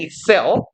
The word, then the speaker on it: excel: into 무엇 안으로 their work styles and excel. 뭐 이거 엑셀이라고 보통 발음하는데 우리 프로그램 그죠? 원래 동사 혹은 명사로서의 발음은요 excel이에요.